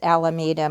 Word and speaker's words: Alameda: of the counties alameda how do you say it mike i'm sorry he says it's alameda mike's here with me